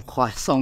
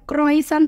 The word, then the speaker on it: croissant: Wih, berarti tahu dong pronunciation croissant yang bener tuh kayak gimana ya? Iya, bacanya bukan croissant tapi croissant.